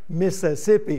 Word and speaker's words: Mississippi: was born in Mississippi when you're born in Mississippi it's two syllables Mississippi I'm born on a